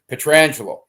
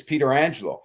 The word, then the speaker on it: Pietrangelo: sisters um so but Alex pronounces his name petrangelo and so we had a family I don't know where we were and I said Alex listen it's Peter Angelo and he says no